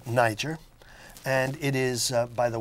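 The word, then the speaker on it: Nyjer: The real name is Niger, now spelled N-Y-J-E-R to avoid any particular pronunciation problems with that.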